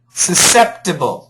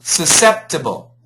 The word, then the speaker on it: susceptible: Yeah, don't worry about the C. Susceptible. Susceptible.